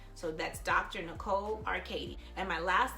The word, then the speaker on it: Arkadie: Nicole Arkady and my last name is spelled AR ka d IE so I'm going